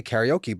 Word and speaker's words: karaoke: Like take for example uh karaoke. Like people say karaoke, but growing up in Hawaii it was karaoke. Like we would go to karaoke.